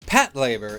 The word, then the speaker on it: Patlabor: Patlabor. Undskyld hvis jer udtaler det Pat-La-Bor i stedet for Pat-Labor, jeg har en tendens til at lægge tryk-fordel-ingen på den forkerte stav-else Så i tilfælde af